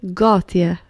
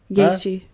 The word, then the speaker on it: Gaethje: Justin Gauthier. Gaethje.